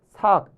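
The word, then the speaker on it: 數: 이 습을 익힐 습 이랬는데 설명을 어떻게 했냐면 조, 삭, 비 이렇게 썼습니다. 조, 삭, 비. 요거는 삭이라고 읽어요. 자주라는 뜻이에요.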